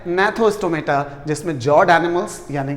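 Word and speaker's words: Gnathostomata: दूसरी तरफ आप देखिए नैथोस्टोमेटा, यहाँ पर जी साइलेंट रहेगा, नैथोस्टोमेटा यानी कि जॉड।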